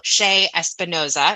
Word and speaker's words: Che Espinoza: Ado here is our interview with Dr Roberto sha Espinosa all right well welcome everybody we are so thrilled today to have Dr Roberto Shea espanosa am I pronouncing that right yeah that's good awesome awesome